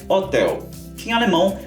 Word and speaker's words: Hotel: turistar por aqui é hotel que em alemão se escreve da mesma forma mas a pronúncia é um pouco diferente hotel em alemão a gente fala Hotel das hotel agora para quem